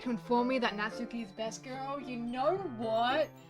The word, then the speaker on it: Natsuki: It depends on your accent and how you're pronouncing the Su in the name. Natsuki. Because all you're doing with that is you're just saying the Su a lot faster.